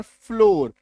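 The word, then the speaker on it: floor: Double O का उच्चारण ओ होगा। डी डबल ओ आर इसके बाद आर आएगा तो डोर ओकार की मात्रा। एफ L double R फ्लोर ओकार की मात्रा।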